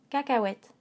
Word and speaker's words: cacahuètes: silencieux hu a et le e silencieux cacahuètes car cas wet cacahuètes le onzième mots en